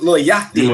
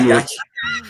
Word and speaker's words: Yachty: Lil Yachty, not Yachi. Yachty.